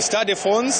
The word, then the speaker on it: Stade de France: Stade de France, that is where we are, because the rugby competition was ending today, men's rugby.